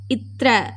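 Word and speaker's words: त्र: Next letter பார்த்தீங்கன்னா இத்ர. இது வந்து இத்து இருக்கு இல்லையா, தேல பாதி, இத்து ப்ளஸ் ர, இத்ர.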